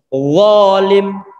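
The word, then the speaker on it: ظالم: Huruf dha pengucapannya adalah tebal.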